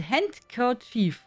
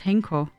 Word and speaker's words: handkerchief: Handkerchief. How do you pronounce it? I say it wrong, oder? I always thought it's Henker, but that's wrong.